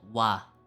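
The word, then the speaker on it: 와: be shorter right so this is called wah it's gonna be pronounced wa and this oh man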